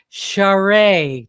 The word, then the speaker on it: Charest: we finally got it straight this is trudy charade did i say it correctly yeah that's perfect